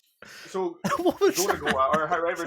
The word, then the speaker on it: Gorogoa: It's not Gora Gora, like Bora Go- Bora. Gorogoa.